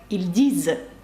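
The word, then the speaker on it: ils disent: так і читається як ільдіз нт наприкінці дієслів не читається також наприкінці слів у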